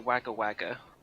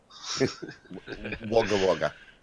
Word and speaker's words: Wagga Wagga: it, we're going to Wagga Wagga. But there's Wagga, not... Wagga. Yeah, get it right, you jackass. Wagga Wagga.